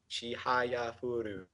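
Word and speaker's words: Chihayafuru: Chihaya Furu.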